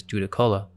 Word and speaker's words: Judaculla: and even Cherokee towns the Cherokee called this giant sukalo which we Now Pronounce as as Juda Cola according to their stories